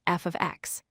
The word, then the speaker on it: f(x): When you see the letter f followed by x in parentheses, we pronounce this as f of x.